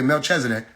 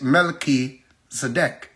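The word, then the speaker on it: Melchizedek: They'll say MelchzDC. You see, slip of the tongue. The truth is it's Mel Zadec.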